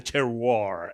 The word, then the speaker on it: terroir: soil where it's grown, the terroir, as the wine you're getting fancy. People would say. Yeah, using words where you don't pronounce letters.